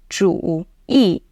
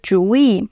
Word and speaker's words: 主意: Technically, we pronounce 主意 as a third tone, 主意 . But in real life, especially in the northern part of China, you will hear 主意 more often with the second tone, 主意